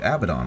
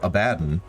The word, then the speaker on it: Abaddon: Abaddon who I suppose actually is named Abaddon I've heard it pronounced abaddin which I thought was correct until you know I've listened to Jonathan Keeble say his name a million times but he's